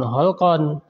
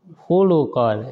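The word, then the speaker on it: خُلُقًا: sifat maksudnya sifat karakter, berarti bukan holkon dibacanya, hulukon, itu beda mananya, walaupun tulisannya kan sama hurufnya ya, holkon dan hulukon.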